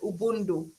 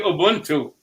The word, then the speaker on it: Ubuntu: correct united we stand ubundu i think it should be ubuntu yes because i think